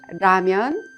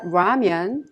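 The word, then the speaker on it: 라면: the r sound so when you pronounce ramyan it's not ramyan or lamian it's ramyan well at this time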